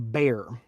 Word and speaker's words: Bexar: the ultim tactile knife it's spelled Bexar but it is also called It's called The Bear it's actually from a